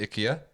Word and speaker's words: IKEA: no no no no the Swedish pronounce it ikia therefore I will pronounce a Swedish store ikia okay I'm not quite